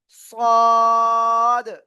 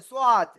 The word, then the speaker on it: صاد: জিহ্বার agar সামনে নিচে দুই দাঁতের পেট ও আগার সাথে লাগিয়ে মোটা আওয়াজে পড়তে হবে। সাদ নয়, এটা সদ। অনেকে বলে সোয়াদ, না, এরকম উচ্চারণ হবে না, সদ।